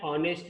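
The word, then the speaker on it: honest: example देखिए, ही इज एन ऑनेस्ट बॉय, एस से शुरू हो रहा है बट एच यहाँ पे साइलेंट है, सो साउंड जो है उसका, ओके, ऑनेस्ट, ओ कंसोनेंट साउंड है, सॉरी वॉवेल साउंड है ओ, इसलिए यहाँ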